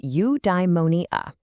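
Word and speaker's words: eudaimonia: It's pronounced udeimmonia.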